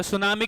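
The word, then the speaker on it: tsunami: होगा कि यहां पर अगर लिखा है तो ता सुनामी बोलना चाहिए था इंग्लिश में तो सुनामी क्यों बोलते हम लोग क्योंकि जापानीश वर्ड है उसमें टी साइलेंट रहता है तो दो शब्दों से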